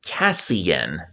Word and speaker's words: Casein: Casein, but on Reading Rainbow it's pronounced Cassian. Casein.